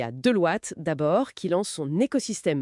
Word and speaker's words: Deloitte: Bon, allez, on attaque tout de suite avec Deloitte, prononcé Deloitte donc, ce Global Agentic Network.